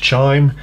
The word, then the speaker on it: chyme: It forms a substance, it kind of a soupy substance called chyme. You also hear it pronounced chime, but chyme, I'm gonna pronounce it like that for now.